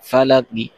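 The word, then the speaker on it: فلق: লা ফালা কবজের কি ফালাকি অকফ করলে ফালাক হবে আমরা জানি হরকতলা হরফ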